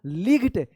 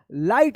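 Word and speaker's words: light: आई का आई उच्चारण होगा। जैसे यहां पे लाइट एल आई जी एच टी इसको लिग्ड या लाइक्ड मत पढ़िएगा।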